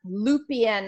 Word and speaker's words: Lupien: And I'm really excited to have our guest today, excuse me, Miss Debbra Lupien. I hope I got your last name pronunciation correct.